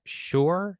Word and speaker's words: Schor: Schor. Is that how you pronounce that?